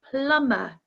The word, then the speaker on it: plumber: with a silent L the same with plumber plumber we don't pronounce the b the B is silent plumber and our last one